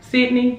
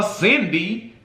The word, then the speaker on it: Sydney: Did I say it right? Sydney? Yes, because people are even messing up this woman's name because he's so busy disrespecting her, calling her Cindy, that people are confused that her name is Sydney.